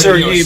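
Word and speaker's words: Серый: His name is pronounced Sir Yi, by the way. Не за хвост собачий. Just sort of imagine that the I and the Y are switched around.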